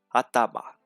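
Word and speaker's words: 頭: Atama.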